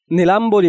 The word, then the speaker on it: নীলাম্বরী: নীলাম্বরী বানানে ময়ের সাথে বফলা থাকায় বফলার উচ্চারণ বহাল আছে।